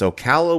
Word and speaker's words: Ocala: a horror con there called forgive me from pronounces correct it's Ocala we live in I think it was called